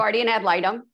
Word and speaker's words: guardian ad litem: prompted you to become a guardian did i pronounce that right al i don't know guardian ad litem okay all right let me correct that out